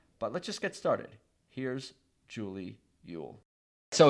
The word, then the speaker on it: Eull: And we'll get to all that, but we were talking before we started recording about your name, and everybody thinks it's Eull, but it's actually pronounced Eull, but you're kind of past it at this point.